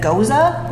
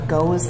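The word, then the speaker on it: Gose: This is a Goza, or Goes, and this pronunciation, it's German, we don't really care.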